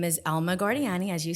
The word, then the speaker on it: Elma Guardiani: So Elma Guardiani.